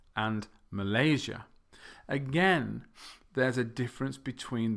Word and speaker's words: Malaysia: in the middle and Malaysia the stress is in the middle I don't think there